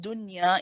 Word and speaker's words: dunya: ya you merge it the word dunya is one of the exceptions that you which means that you don't merge it you pronounce the noun nice and clearly okay there are four